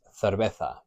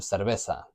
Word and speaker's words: cerveza: In most of mainland Spain, people have what's called el ceceo, which is that Spanish lisp, cerveza, instead of cerveza, which they'd say in Canary Islands or in some parts of Spain like Cordoba and in all of Latin America.